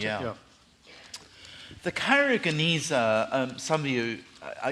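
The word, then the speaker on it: Geniza: documents the Cairo Gan is that how you pronounce yeah the kyona um some of you I expect know um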